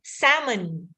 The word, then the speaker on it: salmon: The L is silent. So, salmon, right?